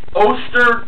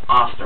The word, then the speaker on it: Oster: and a 250 wat Oster two twpe blender I don't think it's pronounced auster I think it's Oster uh anyway Dennis believed